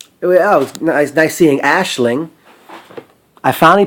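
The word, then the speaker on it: Aisling: Oh, it was nice seeing Ashling. I finally pronounced it correctly.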